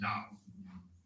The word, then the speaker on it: Tao: We should have spelled it D-O-W, you see, but it's T-A-O.